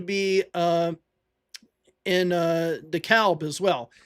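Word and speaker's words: DeKalb: uh in uh the Calb as well. It's in in Illinois. It's the Calb. It's not the CAB like it is in Georgia. It's the calp. Um, we pronounce the L here.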